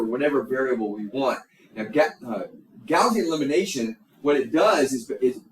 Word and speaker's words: Gaussian: All right, so let's look at Gaussian elimination, or some people pronounce it Gaussian, but Gaussian elimination.